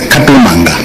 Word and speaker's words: Katumanga: The correct pronunciation is Katumanga.